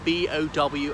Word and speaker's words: Bow: So it's spelt B-O-W and it's pronounced Bow and not Bow.